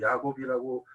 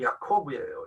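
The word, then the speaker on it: יעקב: 라고 그냥 언약을 한국의 한국말 비슷한 발음으로 야곱 이라고 했지만 그래서 야곱이 우리에게 익숙하지만 히브리어로는 야콥 이에요 야코 야콥 그 야쿠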